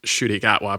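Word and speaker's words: Ncuti Gatwa: to thank nerdy tastic for educating me on how to pronounce shoy gwa because I think when we said the name in a previous episode I was nowhere near that yeah uh me neither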